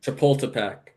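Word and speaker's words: Chapultepec: Chipultipac. Yeah, that that's how it's pronounced.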